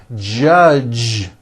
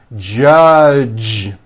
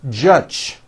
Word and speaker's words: judge: So, for example, many foreign speakers would pronounce the word judge as judge, turning that last sound into an unvoiced CH. Judge. And that is not right. The J sound in American English is always voiced.